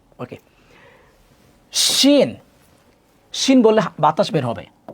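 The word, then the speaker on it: ش: ওকে, শিন, শিন বললে বাতাস বের হবে।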